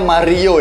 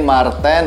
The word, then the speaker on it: Mar10: punggung 10 ajing Marten awalnya saya kira ini bacanya Mario ya Kemari your browser atau Super Mario yaitu nyata ini Marten apa Real dan ini